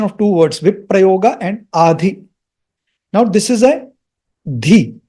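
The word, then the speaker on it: अधि: So this is the combination of two words, Viprayoga and Adhi.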